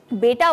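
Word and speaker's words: beta: एंड कुछ लोग बीटा कहते हैं बट the actual pronunciation is बेटा।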